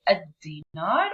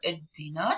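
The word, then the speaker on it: الدينار: So if you want to say the JD or the dinar, I say ad dinar or id dinar. So as you can see, I am stressing on the first letter, which is the da or the dal, and it gives the da sound.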